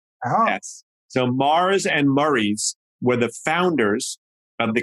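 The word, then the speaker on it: Murrie: on the odd couple but this is not spelled like murray the cop or the first name it's m-u-r-r-i-e yes so mars and murray's were the founders of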